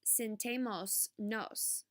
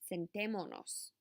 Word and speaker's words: sentémonos: Let's sit down is not sentemos nos. It is sentémonos. Again, notice I attached a syllable, so I added an accent.